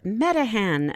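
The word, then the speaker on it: Meteghan: coming back down to earth let's hover over metan Nova Scotia Canada we had to look that up it's spelled me t e g h n the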